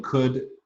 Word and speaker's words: could: I just point out the L in could doesn't belong there. It was never pronounced with an L sound. It just crept in by analogy with would, where it belongs. It's a truly silent letter. It has no historical correspondent.